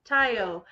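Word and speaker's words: taglio: then there's also there's the word to cut is taiyo but it's spelled t-a-g-l-i-o because a g if you have a g-l next to each other they're silent so it's taiyo but if it was an lg it would be telgeo so you're like what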